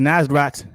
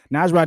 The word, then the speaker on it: Nasrat: button but we here baby Dan hooker versus nazrat hasad I know I said it wrong nasrat is a beast man I really love his